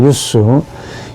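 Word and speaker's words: ius: 유스. 이게 J하고 I하고 발음이 똑같습니다. 유스. 원래 이 J가 막 그냥 넘어갑시다. 유스 똑같아.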